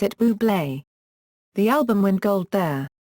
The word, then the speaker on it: Bublé: A campaign featuring Fever was launched before Valentine's Day with a quirky marketing campaign that simply stated "You pronounce it Bublé."